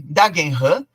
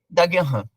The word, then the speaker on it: Dagenham: penetrou por exemplo no Canadá em Manchester em dagenham e em Colônia na Alemanha dagenham é um